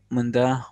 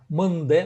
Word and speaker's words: мынде: Мында, одырба. Угу. Мынде, вот смотрите по произношению. Мынде, не мында, а мынде, одырбе.